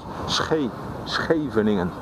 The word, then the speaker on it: Scheveningen: SCH, the first letters of Scheveningen, pronounced Scheveningen.